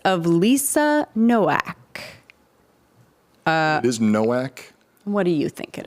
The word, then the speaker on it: Nowak: It is Nowak. What do you think it is? I think if you pronounce it ethnically, it is supposed to be Novak, huh?